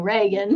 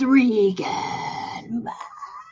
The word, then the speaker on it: Regan: Well, her mom's a fucking retard because everybody else is saying Reagan. Wow. Either that or vice versa. Wow. Maybe everybody else is just. Maybe that's why she went through this whole thing. Everybody's saying her name wrong. So she went demonic. My name's Regan.